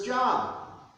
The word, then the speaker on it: Job: And the book of Job, which sometimes is mispronounced as Job.